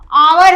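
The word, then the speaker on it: hour: एच को हम क्या ओमिट कर देंगे। हटा के कहेंगे आवर। क्या कहेंगे? आवर। एक साइलेंट इसमें रहता है। हावर ना पढ़ के हम क्या पढ़ते हैं? आवर पढ़ेंगे।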